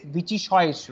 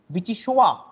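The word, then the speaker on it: vichyssoise: We will generally say Vichychoish, right? But it's not like that. It's Vichychoa. It's Vichychoa. It's not Vichy also. It says Vichychoa.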